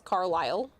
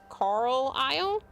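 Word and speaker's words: Carlisle: cuz you're putting an extra L in there because it's Carlilele. I didn't even realize I did that. Like looking at the pronunciation, I'm like, "Oh, I did put technically an extra L in there cuz it's it's probably supposed to be Carl Isle."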